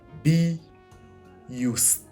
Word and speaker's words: BIUST: looking at the word be used so it's be used right uh so I've seen people spell it as b u i s t uh